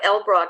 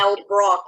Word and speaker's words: Elbroch: It's Mark Elbrock. It's ELBROCH. Right. Not Yeah. Elbrock, like it's spelled.